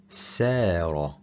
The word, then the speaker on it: سار: If the tip of your tongue touches the lower teeth, you are going to pronounce the letter Sin instead, and the meaning changes completely. ثار, ثار. Revolt against. سار, سار.